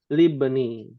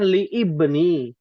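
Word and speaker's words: لابن: Jadi libni. Ya, tidak dibaca. Harusnya kan li ibni. Tapi karena i-nya adalah hamzah wasal, kalau bersambung dia jadi sukun, hilang.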